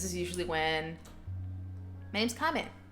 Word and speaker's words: Kame: But yeah, this time is ideal for me because this is usually when my name's Kame. K-A-M-E. Kame. My handle, however, is. Kame is kind of not easy to pronounce.